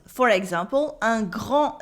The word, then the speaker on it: grand: Un grand and then a en sound in grand and the D is silent.